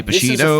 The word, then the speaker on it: Bushido: You say Bushido, I say Bushido. Well, it is Bushido, so I'm saying it right. There's an I in there. It's not a U there. It's an I.